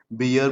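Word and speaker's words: bear: Garden मतलब बगीचा और बेयर मतलब क्या, भालू। वैसे तो हम बियर बोलते हैं, लेकिन स्टैंडर्ड प्रोनाउंसिएशन इसका बियर नहीं है, बेयर है।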